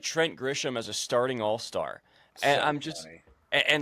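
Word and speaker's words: Grisham: Trent Gisham.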